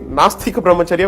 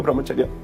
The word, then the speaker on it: brahmacharya: time I heard people calling it masta compromise area when in fact it's nice tika brahmacharya they turned it to atheistic remote area so that was the